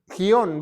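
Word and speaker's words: Gihon: Etiopía va entonces el gion está por acá gion ver cómo se escribe vamos a ver gion G I H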